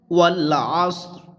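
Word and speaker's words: والعصر: ওয়াল আসর, ওয়াও লাম জবর ওয়াল, আইন সদ জবর আস, র জের রি, অক্ফের কারণে রর জেরটাও সাকিন হবে।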